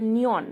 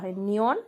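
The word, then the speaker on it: 니은: এর মত উচ্চারণ হয় আর তারপর আছে নিয়ন এটাকে বলে এই অক্ষরটাকে বলে নিয়ন যেটা এন এর মত বা ন এর মত উচ্চারণ হয় তারপর আসে দিয়ত দিয়ত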